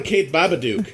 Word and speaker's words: Kath Barbadoro: You should call her Kath Barbadoro. That's the traditional pronunciation in Italian, so good job.